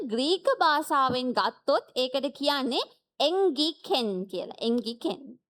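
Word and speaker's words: ἤγγικεν: 자, 가까웠다라는 헬라 원어는 앵기켄이라고 발음을 합니다. ඉතින් මේ ලං වී තිබේය කියන වචනය ග්‍රීක භාෂාවෙන් ගත්තොත් ඒකට කියන්නේ එන්ගිකෙන් කියලා.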